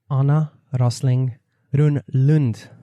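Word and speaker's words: Anna Rosling Rönnlund: my friend thank you you are the first one I've met who actually pronounced my name in a Swedish way right yes well wonderful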